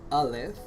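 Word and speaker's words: ألف: origin LF means oh elif uh is pronounced as Olive uh is the first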